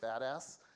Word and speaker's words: BDAS: we're calling uh the Berkeley data analysis system bdas or we pronounce it badass and um you'll hear